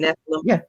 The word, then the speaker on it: Nephilim: That's how you say it, Nephilim.